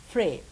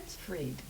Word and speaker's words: Fried: Today we're going to be with Frey. Is that correct how I pronounce it? Freed.